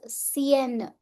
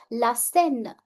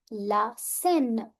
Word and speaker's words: Seine: Many students often pronounce it as Seine. Ce n'est pas correct. It's la Seine, la Seine.